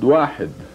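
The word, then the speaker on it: واحد: It is pronounced wahid. Wahid.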